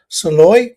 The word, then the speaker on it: Szalay: run by won by a guy called David Szalay but it's spelled differently it's spelled S Z A L A Y.